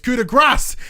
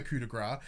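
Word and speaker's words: coup de grâce: So Corey in the commentating was like, "No, you pronounce the S. It's coup de grace," and he was adamant. He's like, because presumably everyone on SmackDown doesn't understand the coup de grace, so he's like, "No, it's the coup de grace. It's what it's called. It's what it's how you pronounce."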